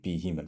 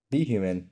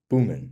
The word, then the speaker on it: BHuman: human for example so be human written like this I think most people would understand you say the letter B first and then human but sometimes it may say boomman instead of be human right so how can